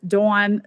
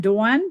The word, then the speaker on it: Dawn: So my sister, her father-in-law is Don, D-O-N, and her sister-in-law, his daughter, is Dawn. That's how they pronounce it. I say Dawn and Dawn, but when I'm around them and they're from the Midwest, they very much distinguish those two.